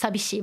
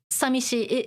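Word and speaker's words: 寂しい: more common of course okay so normally it's pronounced sabishi but yeah sishi is possible too but uh uh this is more official Okay.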